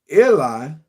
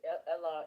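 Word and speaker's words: Elah: He conspired against Eliah.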